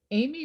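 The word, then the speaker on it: Amie: ami amy yeah well i'm actually sure that the french would say you know uh ame but um everybody calls her amy but it's spelled i.e at the end yes a-m-i-e right a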